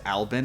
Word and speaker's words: Albin: i'm aware now that the full name uh is pronounced albin apparently i'm sorry for getting